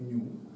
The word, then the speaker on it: ню: В новогрецькій, здається, вона читається як ні, але будемо читати як по класиці, як ню.